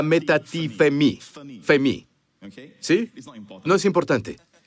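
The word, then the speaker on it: μετατίθημι: Quiero que todos busquen en sus Strongs y digan, oye, se pronuncia metatitetimi, ¿de acuerdo? Pero en griego se pronuncia metatifemi, femi, ¿sí?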